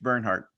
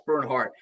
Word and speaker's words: Bernhardt: yeah all good man it's Bernhardt that's Bernard Bernhardt is uh he's got